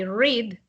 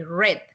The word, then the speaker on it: read: in past okay so in present you say i read in past simple you say i read okay but same spelling okay just the pronunciation changes annie sounds like the color yes exactly yeah yeah